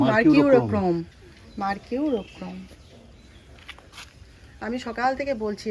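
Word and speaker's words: Mercurochrome: হবে এইখানে রেখে দেওয়া হয়েছে যদি পড়ে যায় মার্কিউরক্রম বলো ওই কি উচ্চারণটা মার্কিউরোক্রম মার্কিউরোক্রম আমি সকাল থেকে বলছি একটু দাও লাল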